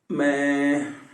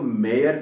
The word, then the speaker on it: mayor: आमतौर पर हम इसको मेयर कहते हैं, है ना, मेयर नहीं, मैं, दैट्स इट।